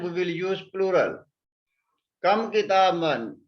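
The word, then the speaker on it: كتابًا: We don't pronounce this alif. We only write this alif. But we don't pronounce this alif. We will pronounce ba. The tanween is on ba. Kitaban.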